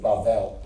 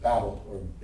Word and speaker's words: Babel: it's followed by the builders of Babel, or Babel, whichever pronunciation you use.